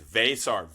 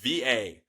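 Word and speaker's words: Veesaar: So you have Henry Vasar, and it's Vasar, Vaysar. Vasar is how I pronounce it.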